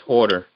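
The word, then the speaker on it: Huerter: pronounce that man's name. Yeah, it's Horter.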